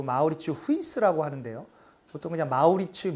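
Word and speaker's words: Mauritshuis: 우리 바로 물으면 아마 우리 치 하우스 라고 합니다 그 네덜란드 발음으로는 그 마우 리츠 후 이스 라고 하는데요 소통 장마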